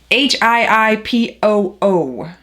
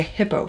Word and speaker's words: Hiipoo: Hiipoo. I wanted to say hippo first, but it's Hiipoo Sublimation Ink.